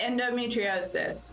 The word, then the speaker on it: endometriosis: Yeah, endometriosis.